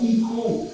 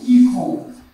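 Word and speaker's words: εἰκών: Então, quando você vai pesquisar o grego, tem a palavra eikon, ou alguns até pronunciam ícon.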